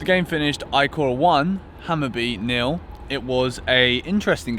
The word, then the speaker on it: Hammarby: would've been a fair result today I think hammer be for small stays out of the iCore and